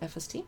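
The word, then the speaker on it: Efeste: there is FST spelled EF e ste but pronounced FST and they serve pizza from a wood-fired oven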